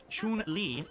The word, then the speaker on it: Chun-Li: Jay Kuma says Zangief, Chun-Li, Ryu, Manon.